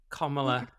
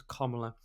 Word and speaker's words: Kamala: He didn't endorse Kamala Harris, as we're apparently supposed to pronounce it, even though that's obviously just how Americans talk. Someone on the BBC was saying it was Kamala.